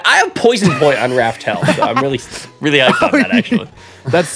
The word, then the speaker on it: Raftel: the your name is nowadays raftel it's r-a-f-t-e-l aw I'm actually sad y'all aren't